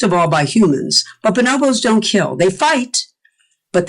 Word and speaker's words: bonobos: And I pronounce it bonobos. I have to say, other people pronounce it bonobo, but I learned bonobo. That's how they say it in Africa.